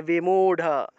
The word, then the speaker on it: বিমূঢ়: কোন জায়গায় র পাবো যে জায়গাতেই র পাবো সেই জায়গাতেই ঢ উচ্চারণ করব তাহলে দৃঢ় থাকলে দৃঢ় দৃঢ় বিমূঢ় আছে তাহলে বিমূঢ় বিমূঢ় বা মুড় থাকলে